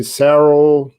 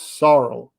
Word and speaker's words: Saro: i understand you know many people they call me cerro soro cerro it's sorrow so so it's weird